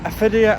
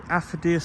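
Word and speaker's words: Affidea: They pronounced it as Aphidia and Aphidia. It's Aphodia. And it's very big. It's a very big ste. And there it says, "Welcome to the Aphodia Stadium, home of Olster Rugby."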